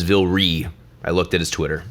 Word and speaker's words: Vilray: always pronouncing it incorrectly I thought it was Vil ray but it is Volare I looked at his Twitter Vil REE is amazing in my